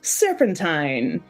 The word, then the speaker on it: Serpentine: We are taking a moment to travel to the fictional world of Serpentine, pronounced like turpentine.